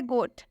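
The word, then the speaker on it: goat: गोट में ओ के बाद से ए आया है। जैसा कि रूल में बताया गया है कि जब भी ओ के बाद से ए आए तो इस ओ का उच्चारण ओ से हो जाएगा, ओ का उच्चारण ओ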